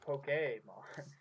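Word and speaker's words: Pokémon: It's actually pronounced Pokemon.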